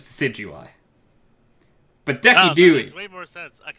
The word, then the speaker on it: Decidueye: So the YouTuber this is not the right pronunciation, but the YouTuber always says Decky Dewey. Decidui? Yeah, because like he pronounces things like Arcanine, right? He calls Arcanine Arcanine. He purposely just says things wrong. And I like it. His real name is Decidueye.